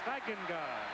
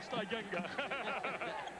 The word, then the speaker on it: Stegenga: Stegenga is the way the family pronounces it. It's the most mispronounced name in America. And before the day's done, we'll do a tap dance on it, I'm sure. But the family calls it Stegenga. So then we'll call it Stegenga.